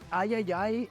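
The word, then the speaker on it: iii: partnering with called the Ayayay Initiative. Yeah, I'm pretty sure it's pronounced Triple I. You know, like AAA, but with I for indie.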